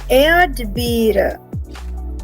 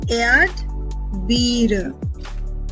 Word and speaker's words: Erdbeere: Die Erdbeere. Die Erdbeere. Because of the presence of R, I am pronouncing it as air.